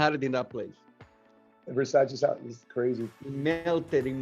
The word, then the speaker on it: Versace: How do you pronounce it, man? Versace. Called Versace. Because there's an S in it.